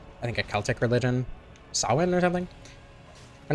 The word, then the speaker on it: Samhain: Like how Halloween was originally like I think a Celtic religion, Samhain or something?